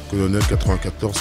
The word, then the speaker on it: Kolonel94: plusieurs pages fans ouais colonel 94 avec un K comme ça se prononce colonel 94 k NL 94 si